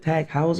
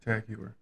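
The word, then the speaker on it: TAG Heuer: He bought a is it tagous? Is that how you say it? Tager.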